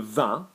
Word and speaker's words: vin: So you think of the difference between the word wine, le vin, yeah, V-I-N, or the end, la fin.